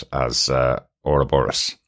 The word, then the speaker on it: Ouroboros: so I've always heard it Liverpool accent as a robor Ross um which was the explanation for how uh